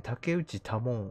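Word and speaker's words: 竹内多聞: 前回ですね、竹内多聞って読むらしいんですけど、下の名前。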